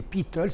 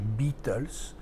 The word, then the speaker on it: Beatles: J'insiste bien sur la prononciation. Les Beatles et non pas les Beatles.